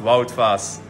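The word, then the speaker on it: Wout Faes: My name is pronounced Wout Vaas, so you know.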